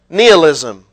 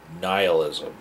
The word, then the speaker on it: nihilism: that's also known as the doctrine of kneel ISM okay Kevin say it with me nihilism okay before you do